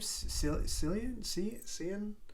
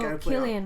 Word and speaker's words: Cillian: But the one where they had Margot Robbie and how do you pronounce his name? Cillian Murphy. Oh, Cillian Murphy. Murphy. Cillian.